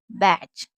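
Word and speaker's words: batch: कभी भी टी और सी एच साथ में होगा, यानी कि टी और सी एच साथ में होता है तो टी को नहीं पढ़ते हैं। क्या बोला, टी के बाद अगर सी एच होगा तो टी को नहीं पढ़ेंगे, या तो ऐसे समझ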